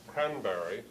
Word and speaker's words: cranberry: In modern English, we pronounce crane like this, as crane, but when it occurs in the compound cranberry, we pronounce it as cran.